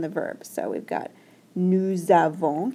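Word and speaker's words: nous avons: verb so we've got nusavon kind of makes a z sound when you link them together sound okay you might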